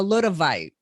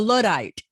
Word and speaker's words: Luddite: would say well i'm a little a little bite maybe pronouncing that wrong a a a luddite a luddite a luddite which which